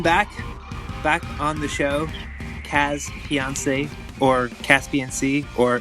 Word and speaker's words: CasPiancey: Is it like Caspian Sea? It's basically Caspian Sea, but everyone calls me Cass, so that works fine for me.